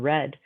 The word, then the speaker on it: read: so cut set read we pronounce it differently say we say read and then read but the spelling doesn't change hit hurt let put